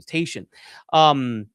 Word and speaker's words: Tatian: excuse me, that's how you say his name, Tatian, who were who were saying these things.